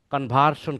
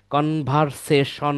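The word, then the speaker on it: conversion: তিন নাম্বার হবে কনভার্শন campaign. কনভার্সেশন না। কেউ কনভার্সেশন বলবেন না। কনভার্সেশন মানে কথোপকথন বা আলাপ আলোচনা বা কিছু। আলাপন এটা হচ্ছে কনভার্শন কনভার্ট থেকে কনভার্শন তাহলে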